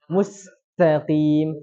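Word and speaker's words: المستقيم: Menghilangkan sifat ta. Itu apa? Hamas juga, hilangkan hamasnya. Harusnya dibaca gimana? Ta. Ada yang keluar. Mustaqim. Tapi dia bacanya musta.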